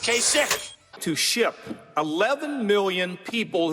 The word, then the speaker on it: Kasich: Every time I see it, I say Kasich, but it's pronounced Kasich.